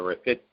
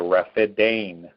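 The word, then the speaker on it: Rafidain: to that is the riff it now the way everybody pronounced is not right it is the rapid Dane bank lodge launches amazing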